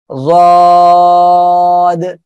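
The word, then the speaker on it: ض: ওকে, তাহলে আমরা সবাই একসাথে এ অক্ষরটা আবার একটু উচ্চারণ করি, সবাই বলেন জদ, সবাই বলেন জদ।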